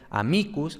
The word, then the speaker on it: amicus: Entonces, por ejemplo, amicus, la penúltima, tiene esta I larga, entonces la sílaba es larga por naturaleza.